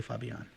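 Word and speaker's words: Fabián: want to call you it's i can say it it's not like it's that hard to say fabian i can say fabion and the reason why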